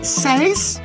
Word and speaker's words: seis: 6 is seis.